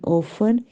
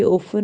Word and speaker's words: often: OFFICE office दफ्तर, OFTEN ओफन। यहाँ पे देखिए टी साइलेंट है, मतलब टी पढ़ने में नहीं आएगा, ये ओफन होता है अक्सर।